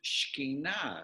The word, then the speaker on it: Shekinah: They call it the Shekinah glory, but you pronounce it Shekhinah.